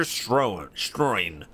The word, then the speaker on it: Stroin: Deputy Head of Special Department, Major Stroin. Rhymes with groin.